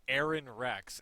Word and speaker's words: Aron Rex: He's called Aaron Rex, and it's spelled A-R-O-N space R-E-X.